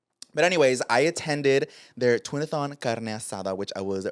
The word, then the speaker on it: Twinathon: I can't say it. Twinathon. Oh twinathon. Twinathlon. No, every time I was trying to pronounce it, I was like, I'm just pretty not smart. It was like a tongue twister, but it's twinathon, right?